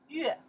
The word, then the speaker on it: 乐: They say, 乐 in that case here, we pronounce 月 That means that character can pronounce 月 or pronounce 乐 okay? In the here, we pronounce 月 music, 音乐 okay? 音乐 We say happy, 快乐 That's the character we pronounce 乐 okay?